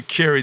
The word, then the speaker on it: Kerry: a b k b now it's really Kerry just like Terry but with the K there Roger good evening to